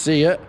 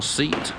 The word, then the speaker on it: SEAT: a s on it first see it or seat depending where you want to pronounce it as it's now gone